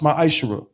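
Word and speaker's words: מעשר: Means 10th in Hebrew and is pronounced ma'ashera.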